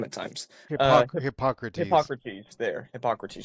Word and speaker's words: Hippocrates: Hippocrates. There, Hippocrates. Just think of Socrates, but Hippo. Hippocrates.